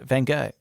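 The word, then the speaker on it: Van Gogh: got red hair too I even know uh van go there we go now pronounce it that way that pretti yeah thank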